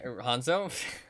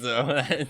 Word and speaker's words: Hanzo: to be sneaky like hanza is trying Hanzo I'm thinking in my mind I'm like okay what's his name say it properly say it properly Han Solo like Hanzo and then I just